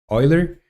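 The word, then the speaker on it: Euler: log uh this is going to be Oiler Oiler angles or eer angles it's uh WR e it's WR written eer but is pronounced Oiler uh that's what black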